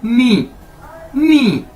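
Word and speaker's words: 你: आपने वो जो लास्ट वाला ओ है उसको नहीं बोलना, बस इतना कह देना वाह। तो इसका मतलब है आई यानी मैं। तो इसके बाद हमारे पास दोस्तों नेक्स्ट वर्ड है नी, NI, नी।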